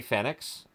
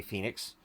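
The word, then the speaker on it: Fénix: almost always with Ray fenx um or Ray Phoenix um I've heard it pronounced both ways but Ray Ray Phoenix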